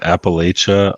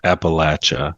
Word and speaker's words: Appalachia: While my co-hosts are pronouncing it Appalachia, I will stay strong and continue pronouncing it the correct way, Appalachia.